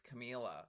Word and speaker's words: Camila: Ooh, I really love that run that Camila did there. You notice I'm saying her name correctly this time. It's Camila. I spent two full videos of me saying it wrong millions and millions of times.